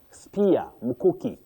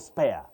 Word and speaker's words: spear: Then spear. Spear. Not spare.